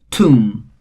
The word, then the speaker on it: tomb: letter b and finally tomb again the last letter b is silent here so see this is